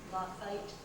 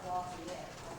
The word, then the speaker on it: Lafayette: It was quite unusual that 2 fellows by the name of, and by the way, it's spelled Lafayette. We say Lafayette today, but in those days it was pronounced Lafayette.